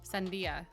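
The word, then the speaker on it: sandía: How do you pronounce it? Lasia. Sandia.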